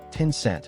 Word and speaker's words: Tencent: On July 6th, Tencent, pronounced Tinscent, released the full